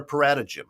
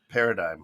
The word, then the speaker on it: paradigm: Except for paratagym, he really had a problem with paradigm scheme. Yeah, paradigm. He called it paratagym for years. That's putting the emphasis on the wrong syllable.